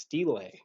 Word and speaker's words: stele: So actually, I've been pronouncing it wrong the entire time because I've said stele, and it's actually pronounced stele.